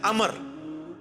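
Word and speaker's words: عمرو: वो लफ्ज गलत है लफ्ज़ उम्र तो कोई लफ्ज़ नहीं है लफ्ज़ है अमर लिखा होता है उम्र लेकिन उसका मतलब वो जो है वो साइलेंट होता है और वो का मतलब यह है की आपने इसे पेश की बजाय जबर से पढ़ना है उम्र की बजाय पढ़ना है अमर तो हज़रत ए अमर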